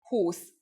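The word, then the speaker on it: húsz: the only exceptions are the 20s 20 is whose but when saying 21 22 and so on Whose changes to Husson for example who's on edge 21.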